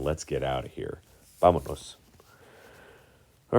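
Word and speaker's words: vámonos: I don't want to hear vamanos, even though you might have thought that's what it was saying your whole life. No, it's vamonos.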